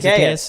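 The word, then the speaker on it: Zaccheaus: Zacchaeus.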